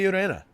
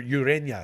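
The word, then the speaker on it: Ureña: lineup Jose Urena or Urena excuse me there's an Enya on his uh there's a tilde on the end in India as they call it that's when you pronounce it like a y Jake swell says yes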